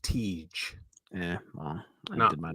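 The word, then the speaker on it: Tij: And then Aginla's son, it's pronounced Tej.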